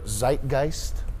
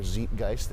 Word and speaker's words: Zeitgeist: is a unique product by and for their Zeitgeist or Zeitgeist if you want to go with the moist critical pronunciation we to be Niche man everybody is